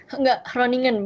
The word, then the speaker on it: Groningen: Enggak, Groningen. Bacanya tuh kayak Groningen tapi G-nya jadi H. Oh, Groningen.